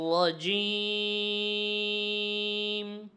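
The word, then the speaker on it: الرجيم: নির জিম নিরজি নির এখানে র পর হবে অর্থাৎ মোটা হবে র কোথাও মোটা হয় আবার কোথাও পাতলা হয় এখানে র উচ্চারণ মোটা হবে নির নিরজিম আউজু বিল্লাহি মিনাশ শাইত নির রাজিম।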